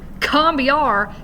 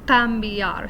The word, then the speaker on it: cambiar: in that opening c whereas in spanish when letter c comes before a vowel at the beginning of a word it's a little bit softer it's a little closer to the sound we make when we have an initial g at the beginning of the word so instead of combiar it's pambiar so i'm using the back of my tongue like i would do